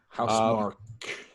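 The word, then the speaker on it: Housemarque: pronounced. House Mark.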